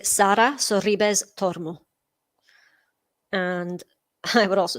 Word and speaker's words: Sara Sorribes Tormo: I would say Sara Sorribes Tormo. And I would also say Garbiñe Muguruza. Gosh, testing my Spanish pronunciations here. But yeah, that's how I would say those with my accent anyway.